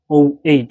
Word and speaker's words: -oate: Ester is like -oate, like weight. -oate. So, you pronounce it like weight.